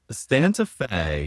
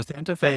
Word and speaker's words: Santa Fe: Um, Santa Fe. Oh, okay. Rhymes with gay. Rise with gay. Uh, Santa Fe. So, Santa Fe is in New Mexico.